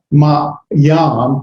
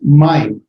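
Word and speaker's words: מַיִם: It's not ma yam, it's not ma yim, it's mime. It's like a and an I together, mime.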